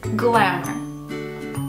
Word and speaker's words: glamour: I hear this word mispronounced quite often when girls talk fashion. They say glamour, but it's not. It's glamour.